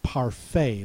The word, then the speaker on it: parfait: uh the next word has a AI T at the end that says a pronounced a parfait that's a dessert with